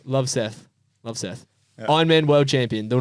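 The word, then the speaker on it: Løvseth: Love Seth. Love Seth.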